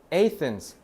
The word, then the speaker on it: Athens: 자, Athens. Athens이라고 읽어요.